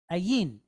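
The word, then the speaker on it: ע: letters in Hebrew right alth and ain now we're not going to get to ain for a couple of weeks but remember it's a silent letter as well okay so we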